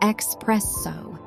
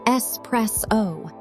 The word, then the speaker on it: espresso: It is definitely not expresso. There is no X in this word. It is espresso.